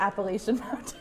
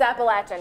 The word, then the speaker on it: Appalachian: And so they'll say like, how, how do you pronounce the appellation? Stop it. It's Appalachian y'all.